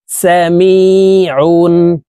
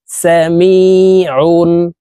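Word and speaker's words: سَمِيعٌ: ইয়া জের মি সামি আইন দুই পেশ উন সামিউন আইন হরফ কে হলুকের মধ্যখান থেকে চাপ দিয়ে উচ্চারণ করে পড়তে হবে সামিউন হামজাহ মিম জবর আম র ইয়া জের রিম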